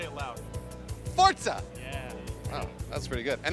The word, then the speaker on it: Forza: sometime next year let me make sure I pronounce this right Forza Horizon 2 is that correct got it fortza got it no say it again fortza say it slower for okay now say it loud Forza yeah that's pretty good and then just again